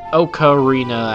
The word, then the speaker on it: ocarina: Okarina actually is the Japanese pronunciation, but I'm going to go ahead and just call it ocarina cuz it's easier.